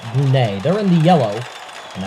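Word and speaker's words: Brunei: Kazakhstan and now Afghanistan against brune or brunai depending on how you want to pronounce it but here on marel kuo we're going to pronounce it brune they're in the yellow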